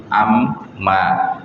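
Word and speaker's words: عمّ: Ini amma itu dua unsur kata, an sama ma, kemudian dihubungkan menjadi amma. Karena secara bacaan kalau kita bicara ilmu tajwid, nun ketemu mim bacaan idgham. Kata idgham itu menyatu dengan huruf setelahnya, berarti ini menyatu dengan huruf mim.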